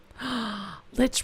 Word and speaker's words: lich: Lich rhymes with hitch.